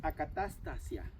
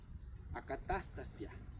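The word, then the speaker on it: ἀκαταστασία: Pero su pronunciación es acatastasia, acatastasia.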